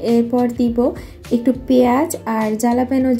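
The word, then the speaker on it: jalapeño: এরপর দিব একটু পেঁয়াজ আর জ্বালাপেনো যে মরিচ থাকে, এটাকে এখানে আবার ইয়ালোপেনো বলে, কারণ এখানে যে উচ্চারণটা ওরা করে না, ওরা ওইটাকে বলে।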